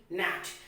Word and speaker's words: gnat: GNAT, nat.